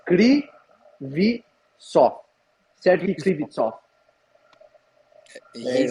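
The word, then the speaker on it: Kryvtsov: I figured out the pronunciation of Serhi. It's Krivitsov. He spelled it to me phonetically, so it's Krivitsov.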